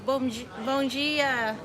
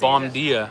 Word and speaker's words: bom dia: Kate says bon dia. I almost lost my Oh my Brazilian god, you almost said pronunciation. bom dia.